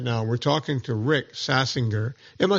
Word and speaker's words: Saxinger: We're talking to Rick Saxinger. Am I saying it right? Saxinger. Yeah, the way you first said it would be in German, American Saxinger. Yeah, Saxinger.